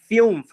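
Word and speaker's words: fünf: तो इसको कैसे प्रोनाउंस करेंगे? फ्यूम्फ, फ्यूम्फ, फ्यूम्फ।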